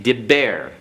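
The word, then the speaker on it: דִּבֶּר: And this baith is doubled. We'll have to explain that later. It's dib bear. Okay, diber.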